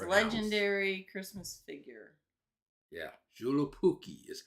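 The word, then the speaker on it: Joulupukki: juki that's how it's legendary Christmas figure yeah julip puki is how it's pronounced I had to play the thing just hear yeah to hear it's like how the heck is oh it's julu Pooky that sounds Hawaii sounds like a pudding or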